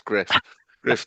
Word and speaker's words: Gruff: yeah, and it's spelled the Welsh way, so it looks like Gruff Tuff, but it's Griff Tuff, who Yeah.